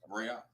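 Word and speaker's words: ראה: So the aleph represents a glottal stop, and then the ha is vocalized, right? So you got the ra'ah. So that's how it should be pronounced.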